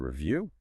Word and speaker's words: review: And review? To review, review, also stress on the second syllable, means to look at something again.